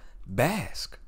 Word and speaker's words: Basque: Hold on. I mispronounced. Go scroll up now. Scroll up. Don't even go to the comment section just yet. It's pronounced Basque. I'm 1% Basque.